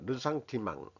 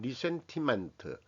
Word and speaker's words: ressentiment: 영어식으로 아니고 이게 프랑스 말인데 영어식으로 그냥 이 발음 이용 모르고 하면 리센티멘트 이렇게 되는 건데 이제 이 영어 사전을 찾아봐도 르상티망이라고 러상티망 이런 식으로 그 발음이 됩니다.